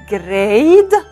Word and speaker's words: grade: When grade هون silent E نروح على الفاول اللي قبلها نلفظ الصوت الطويل، نلفظه باسمه اي، نلفظه اي. جراي، جريد، جريد.